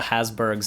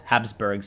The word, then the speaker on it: Habsburgs: ask uh ask the hasberg how that goes habsburgs sorry was mispronounced that all right I love